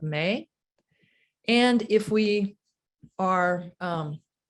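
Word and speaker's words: MEH: tone the vowel sound may it's spelled m-e-h but it's pronounced like the month of may and if we are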